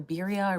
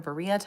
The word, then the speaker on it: birria: The birria or burrilla tacos with the little sauce.